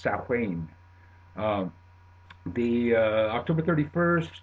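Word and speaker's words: Samhain: Irish word it looks like samh but it's pronounced sahain um the uh October 31st of course you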